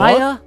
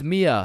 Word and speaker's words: Mia: Maya? Is Maya present? It's Mia. Wow, quite the name you got there.